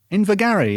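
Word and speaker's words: Invergarry: is in what's that invigary invergary yeah as in glenn gary oh we're gonna have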